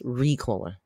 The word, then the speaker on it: Ricola: just said it right whoever corrected me in my comments I was putting the emphasis on the wrong syllable it's Ricola and I'm having one